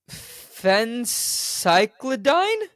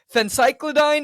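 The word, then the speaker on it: phencyclidine: so the quick search says that it's a Fen cycline I have no idea if I'm pronouncing this right yeah yeah well it's okay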